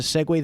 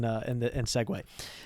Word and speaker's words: segue: I think it's pronounced Segu. Here's the thing. If it was, I wouldn't, it would make sense that I would be pronouncing it incorrectly. Right. Although I'm pretty confident in segue.